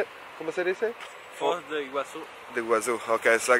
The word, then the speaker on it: Foz do Iguaçu: Foz de Iguaçu.